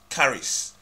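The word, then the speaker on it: χάρις: as Grace is the Greek word Charis Charis pronounce carries for which strongs concordance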